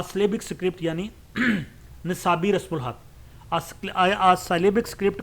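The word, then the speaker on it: Knossos: जाती है जैसे लफ्ज कोनो सो वैसे ये नोसो पढ़ा जाता है के साइलेंट है जो मैंने डिक्शन में देखा है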